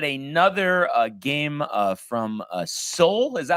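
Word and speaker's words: Seoul: so we had another uh game uh from Soul is that how you pronounce it Tony correct uh Soul Korea here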